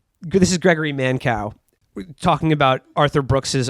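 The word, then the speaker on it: Mankiw: times by the conservative uh economist uh gregory mancu who i mean gregory mancow is actually how you pronounce that that guy sucks so much he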